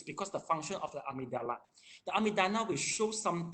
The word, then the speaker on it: amygdala: I pronounce amygdala.